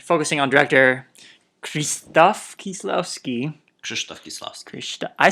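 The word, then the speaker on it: Krzysztof Kieślowski: Krzysztof Kieslowski.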